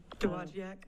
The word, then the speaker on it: Dowagiac: There's a video online from, I can't pronounce it, Dowagiac, Michigan. Dowagiac?